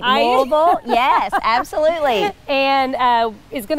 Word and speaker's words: Louisville: You said it right, Louisville.